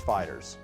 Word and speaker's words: FighterZ: Today, we're looking at Dragon Ball FighterZ, and yes, I checked the pronunciation on that, it's FighterZ.